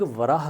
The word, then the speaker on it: वराह: वराह कहा है, लेकिन वो वराह ठीक से प्रोनाउंस नहीं कर पाया, तो वो किंग बोरा कहता है कि ये किंग बोरा है। बोरा मतलब वराह, पर उसका प्रोनाउंसिएशन सही नहीं था संस्कृत का, तो उसने उसको बोरा कहा।